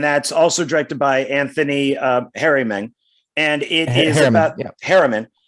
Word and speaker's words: Harriman: Harriman. Harriman.